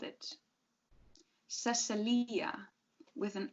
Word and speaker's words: Cecilia: She just thought it looked better on paper, but now people stressed the Cece. Cecilia. When she spelled it Cecilia, people pronounced it Cecilia. It flowed better then.